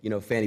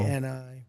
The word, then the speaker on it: Fani: The same DA, Fannie Willis. Right, Fannie Willis. She treated you very unfairly. She goes by the name Oh, of it's Fani. Trump even though it's bingo. F-A-N-I.